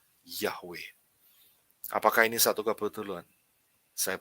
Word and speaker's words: Yahweh: Kalau Yod, He itu berarti bacanya Ya. Kalau Waf ditambahi He lagi belakangnya akan membentuk satu kata Yahweh.